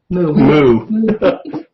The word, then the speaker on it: Mou: Okay, in the book you asked, I'm going to hopefully pronounce this right, Mou, M-O-U? Or Moo? Moo.